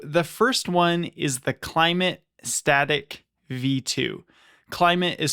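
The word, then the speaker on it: Klymit: So, the first one is the Climate Static V2. Climate is spelled K L Y M I T.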